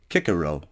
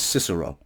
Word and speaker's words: Cicero: Cicero some people cannot some people pronounce it kick a row but it's pronounced usually as Cicero he was born January